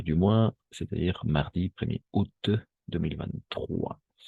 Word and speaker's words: août: mardi 1er août 2023 on prononce tout simplement août le premier jour du